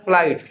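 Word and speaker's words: flight: एस टी का देखो जी H silent होता है कैसे साउंड आ रहा है फ्लाइट फ्लाइट जी एच का साउंड नहीं आ रहा है ना कुछ भी ओके सो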